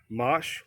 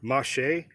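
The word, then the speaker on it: mâche: foreground of the asparagus this is mosh or mache depending how you pronounce it now i planted these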